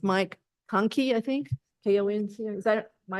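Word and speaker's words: Konkey: So it's Mike Conkey, I think, K-O-N-C, is that, Mike, am I saying it right? Hey, Bill. Yes, Michael Conkey.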